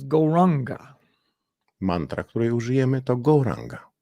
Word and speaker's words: Gauranga: Mantra, której użyjemy, to Gauranga. We'll divide it into 4 syllables, Gauranga.